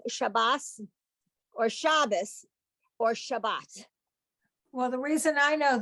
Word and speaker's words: Shabbat: no longer with us, was very insistent that on saying Shabbos or Shabbos is what he would say. Good Shabbos. Yeah. And his answer to anybody who said, no, Herman, now you pronounce it Shabbat, he would say, I'm not in Israel. Thank you very much. There you go. But today, everybody learns both of them as a T.